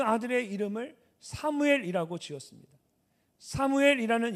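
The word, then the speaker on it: שמואל: 사무엘이라는 이름은 좀 더 정확하게 발음하면 쉐무엘인데 이 쉐무는 들으셨다라는 뜻이고 엘은 하나님을 말합니다.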